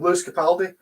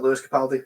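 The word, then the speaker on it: Lewis Capaldi: got his name wrong luis capaldi it's not louis capaldi that guy when he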